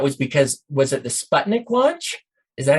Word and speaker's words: Sputnik: i think that was because was it the sputnik launch is that how you pronounce it yeah yeah and they were afraid